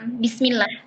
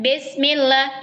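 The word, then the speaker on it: بسم الله: Ee bunyinya bismillah itu berbelok ke huruf E, E gitu ya. Jadi harus harus ee apa? Sempurnakan harakatnya. Tadi saya bilang dari tadi sempurnakan harakatnya. Sempurnakan harakatnya. Kalau a baca a jangan e a e gitu ya. Kalau i baca i e jangan bismillah. Tapi bismillah. Bismillah.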